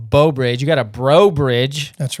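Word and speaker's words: Breaux Bridge: You got a Bro Bridge.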